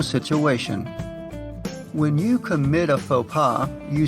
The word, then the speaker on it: faux pas: Note that even though it retains its French spelling and seems like a French word, we pronounce it in an anglicized way.